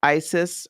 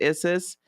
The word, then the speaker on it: Isis: But we're gonna do a spread that's called the Wings of Isis, or it's actually pronounced Isis.